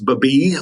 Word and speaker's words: Babiy: My last name's Babiy. Looks like baby, but it's pronounced Babiy. So to all of you that see my name out there, it's not baby, it's Babiy.